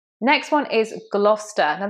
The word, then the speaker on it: Gloucester: Next one is Gloucester. Now this is another example of an English word where we have a silent C, just like in Leicester. It's Gloucester. It's just Gloucester.